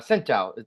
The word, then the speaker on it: Scinto: And we welcome Chef Jonathan Scinto. Am I pronouncing that right?